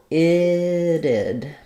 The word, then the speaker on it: it'd: And it sounds like itted. So we have first syllable stress, the I vowel, and then this T is flapped. We have another I sound, a reduced I, and then our final D, it'd be.